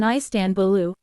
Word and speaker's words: Istanbul: dotted and dotless I in English the stress is on the first or last syllable but in Turkish it is on the second syllable a person from the city is an istanbulu istanbulite is used in